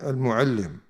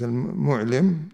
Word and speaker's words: المعلم: was speaking about Ibn al-Muallim. So he says, وَحِينَ بَلَغَهُ مَوْتُ Ibn I believe the correct pronunciation is al-Mu'lim or al-Mu'allim, جلس للتهنئة وقال ما أبالي أي وقت مت بعد أن شاهدت موت ابن المعلم.